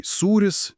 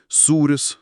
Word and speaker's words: sūris: For example, "aukštas" meaning "high" - pronounced with falling pitch accent (acute). And "aukštas" meaning "floor" - with rising (circumflex). Similarly, "sūris" (cheese) and "sūris" (saltiness).